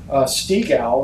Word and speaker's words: Steagall: So when the Glass-Steagall Financial Reform Act is being passed in the 1930s, Stigall is how he pronounced it, Henry Stigall from Alabama.